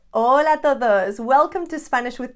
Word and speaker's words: hola: say a lot buenas remember that the h is silent it's not there so we're never going to pronounce the h in hola it rhymes with lola